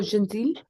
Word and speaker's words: gentil: Oh gentil. Oui, c'est gentil. Pas pas le le gentil. Gentil. Donc le T, on ne prononce pas le T.